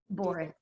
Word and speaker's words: Borras: Boris.